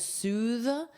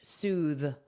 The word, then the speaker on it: soothe: Now notice the pronunciation is soothe. You have the voiced th, soothe, soothe. And it's a long oo sound, soothe.